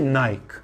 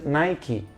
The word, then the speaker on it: Nike: the sports brand Nike it was a Naik no Nike but actually it's a